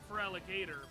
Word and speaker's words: Feraligatr: It's pronounced Feraligatr, but yeah, they just never updated it.